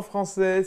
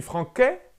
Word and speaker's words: français: Mais je suis franquais? Non, je suis français.